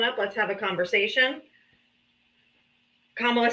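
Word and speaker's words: Kamala: So, my quick question is, what do you think Camila would have done better? Her name is Kamla. Camila. No, it's Kamla. No, you if if you don't say it properly.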